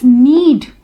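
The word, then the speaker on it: knead: Then fourth is नीड, hair K is silent letter.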